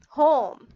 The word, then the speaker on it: home: The e has no voice and o has long voice. So let's read it. O h home.